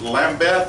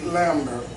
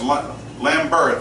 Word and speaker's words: Lambert: As I understand it, your case was originally assigned to Judge, is it Lambeth, I believe is the case? Judge Ron C. Lambert. Okay, yes, Lambert, okay, my bad on the exact pronunciation.